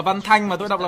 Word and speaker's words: Văn Thanh: Tôi đọc là Văn Thanh mà tôi đọc là Văn Thành đâu.